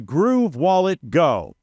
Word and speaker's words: Groove Wallet Go: Let me say it the right way because I mess it up every single time. The Groove Wallet Go. That's how it should be said.